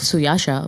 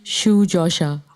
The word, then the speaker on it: Suyasha: eyes kind of version I think it's the Hindi iced one because I call myself so Yasha well because my parents decided to call me so Yasha but get checked this so the Bangla way to say my name is actually huge Asha I was wondering about